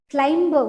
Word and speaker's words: climb: Here B will be silent. Means although B is there in the word, but we should not pronounce that. Like climb, we don't say climb.